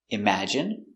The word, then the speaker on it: imagine: Words ending in ine can have different pronunciations. All of these have the sound in. Imagine, examine, engine, discipline, feminine, and masculine.